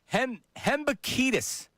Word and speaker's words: Hembekides: Hembekides. Is that correct how I pronounced it? I know him. That is correct.